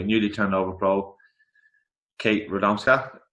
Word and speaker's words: Radomska: turned over pro, Kate Radomska. Is that how I pronounce it? That's exactly how you pronounce that.